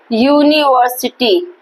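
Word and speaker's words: university: क्योंकि इसका pronunciation यूनिवर्सिटी, देखो प्रोनाउंसिएशन में क्या आ रहा है? या, वाई यू, ठीक है। प्रोनाउंसिएशन में आ रहा है कॉन्सोनेंट साउंड।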